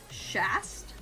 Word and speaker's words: Schastye: Then we have Shast, which is spelled Schastye.